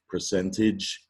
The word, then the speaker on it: percentage: It sounds like edge or maybe idge, depending on where you live, I guess, percentage, but it's spelled AGE, and you see it